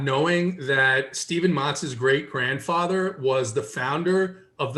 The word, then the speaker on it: Matz: I mean, the way JT pronounces it is the right way. So it's Matz.